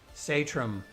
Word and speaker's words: Satrom: Satram would be the correct pronunciation. And I'm like, all my life, I've been telling people it's Satram, and here I find out that in the home country, we got it wrong.